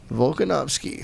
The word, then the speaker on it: Volkanovski: Hawaii boys against Alexander and somebody tell Volkanovski. Did I say it right? Yep. Volkanovski.